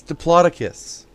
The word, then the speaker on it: Diplodocus: That's not how you pronounce that. It's Diplodocus.